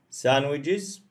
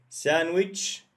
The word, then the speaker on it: sandwich: salad mixed salad okay sandwiches ah here it's very important i will mark it san okay d is silent guys d is silent we don't say d sandwich sandwich no problem two